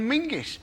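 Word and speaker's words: Menzies: bger it's a nonsense in fact you should pronounce it John mingis apparently it's to do with a defunct Scottish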